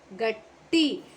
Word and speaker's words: ಗಟ್ಟಿ: Okay, gatti. Double consonants never changing, only gunitakshara changing, so you have to pronounce T under that ta consonant. T, gatti.